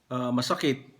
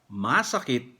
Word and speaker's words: masakit: Ang meron pang dalawang salita, masakit, yung first syllable niya, long vowel, masakit. Ang ibig sabihin, sick, a sick person. Okay, yung may sakit. Okay? Yung masakit naman, ang long vowel niya sa second syllable. Masakit, ang ibig sabihin sa English, difficult. Sa Tagalog, mahirap.